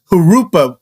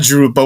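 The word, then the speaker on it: Jurupa: long time actually actually call it or pronounce it hurupa like kind of like with an h you know like kind of like a Spanish word you know hurupa not not jerupa what do you think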